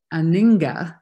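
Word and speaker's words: anhinga: it turned into this beautiful aninga is how they pronounced it we were pronouncing it wrong the whole trip we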